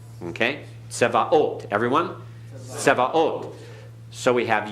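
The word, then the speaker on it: צְבָאוֹת: Notice the vocal schwa. Tse, tsevaot. Okay? Tsevaot.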